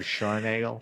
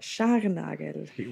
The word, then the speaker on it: Scharnagl: proper pronunciation of Scharnagl. Scharnagl.